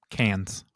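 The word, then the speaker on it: Cannes: awarded filmmakers such as canis is it pronounced canis cans cans thank you such as cans Berlin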